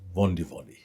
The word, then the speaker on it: Vodivodi: And my middle name is Sili, Sili, and last name it's written as in Fijian Vodivodi, but pronounced as Vondivodi with an N in front of the D's.